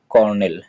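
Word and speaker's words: colonel: কি লিখতে হবে আগে সিও এলও কল তারপরে এন এল নেল কলোনেল তহলে কি হয়ে যাবে টোটাল উচ্চারণটা হবে কর্নেল হ্যা সিও আর এটা কিন্তু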